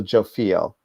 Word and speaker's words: Jophiel: I'm going to pronounce this wrong, and Archangel Jophiel, which is a correct pronunciation.